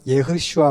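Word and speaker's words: ישוע: 그래서 이제 히브리어 발음으로는 예슈아 원래 이런 발음이고 예시아 아니면 예슈아 이런 발음인데 그게 이제 여호와는 구원이시다라는 뜻입니다.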